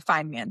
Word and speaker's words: Feynman: And step three is the fine man technique. See the spelling but pronounced like fine man where you prove you actually understand.